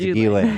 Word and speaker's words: Ghislaine: It's Ghislaine.